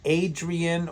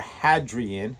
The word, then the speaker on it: Hadrian: Evangelistic and salvation theology Pope Adrian or Hadrian how however you want to pronounce it h a d r i n I'm not sure if